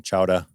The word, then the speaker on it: chowder: Or clam chowdah. Chowdah. I can't say it right. But drop the R.